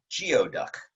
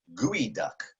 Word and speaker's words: geoduck: that many of you have read this as geoduck and you would be incorrect the way you pronounce that creature's name is gooey duck gooey duck now you might think that's ridiculous